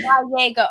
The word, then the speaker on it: Gallego: have to remind myself, I have to pronounce it almost like Guy, as in G-U-Y.